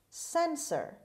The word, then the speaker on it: censor: host word number eight sensor sensor sensor the stress is at the beginning means person who tells